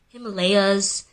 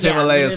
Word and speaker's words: Himalayas: Bro, nobody pronounces Himalayas Himalayas. Anytime I have tried to pronounce the actual word. You be real, it'd be a feat trying to get everybody to change the whole way they pronounce the Himalayas. Himalayas. Come on, bro. Nobody knew it was like that. Americans have fought me on it and been like, that's not the way you pronounce it, it's Himalayas.